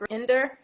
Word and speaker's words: Rayindar: It's pronounced Rayindar, Rayindar.